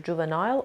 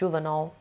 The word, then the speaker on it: juvenile: Number 10 juvenile ممکنه به صورت نایل هم بشنوین تلفظش رو، juvenile or juvenile both are correct.